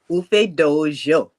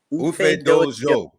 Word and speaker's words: Ufedoojo: Ufedoojo. Ufedoojo.